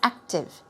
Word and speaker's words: active: an easy word but it's not active oh it's active active we don't hear an O sound at the end it's active two syllables energetic lively even spry